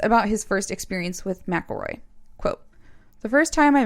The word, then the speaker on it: McElroy: pain yes and also his name is spelled m-c-e-l-r-o-y but everyone says mcelroy like instead of mick and i always want to say mick elroy and it's mcelroy and he had to